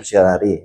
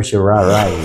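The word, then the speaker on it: Sharia: yan sa law school ang pronounciation daw diyan sa sir shari ay hindi sir shari kundi Sir sharay Sir Shar so nababanggit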